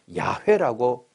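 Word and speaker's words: 야훼: 그런데 그 유대 랍비들한테 물어보면이 발음에 가장 근사한 발음을 야회라고 한대요.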